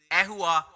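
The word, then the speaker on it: ඇහුවා: கேட்டாச்சு அஹுவா இறந்த காலம் எகுவா உச்சரிங்க அஹுவா அஹுவா அகுவான்னு சொல்லக்கூடாது யஹுவான்னு சொல்லக்கூடாது அஹுவா அஹுவா முதல்ல நம்முடைய காலை பிடிக்கிற வரமாதிரி அ வாயை பிளந்து பிடிச்சு அஹுவா அஹ்வா என்று உச்சரிங்க அப்ப அஹனவா கேட்கிறது அஹுவா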